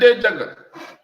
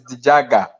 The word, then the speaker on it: Dijaga: My correct pronunciation is Dijaga.